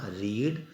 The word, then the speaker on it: read: भी ये होती है, लेकिन इसको बोलते रेड है, READ बोलते रेड है इसको। रीड, रेड, रेड, पहली फॉर्म को रीड, सेकंड को रेड, थर्ड को, स्पेलिंग वही होती है, बोलते रेड, रेड प्रोनाउंसिएशन अलग हो जाता है।